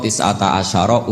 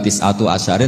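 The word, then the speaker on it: تسعة عشر: tetep ing atase neroko tisata asyaro utawi 19 tetap bacanya bukan tisatu asyarin tapi tisata asyar.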